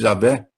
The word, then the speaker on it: Yahweh: O nome do Deus bíblico, Yahweh, a minha pronúncia predileta, mas aqui em português se fala normalmente Javé, ou Yahvé.